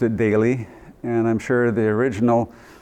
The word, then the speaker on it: Dale: It looks like Dale, of course, but they pronounced it Daly. And I'm sure the original Dailies, the ones who came over from Norway, pronounced it Dala, but that was too difficult for the non-Norwegians, so they said Daly.